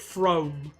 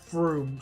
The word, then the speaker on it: Frome: When I was younger, I used to pronounce it Frome, but it is Froome.